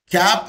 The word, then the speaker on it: CAP: waste the time awesome cap is pronounced as a one word c-a-p cap is pronounced